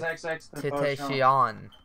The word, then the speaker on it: XXXTentacion: It's XXXTentacion.